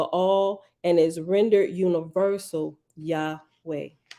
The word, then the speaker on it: Yahweh: touch of graminson now Yahweh is the usual pronunciation Yahweh the tetragrammatin described above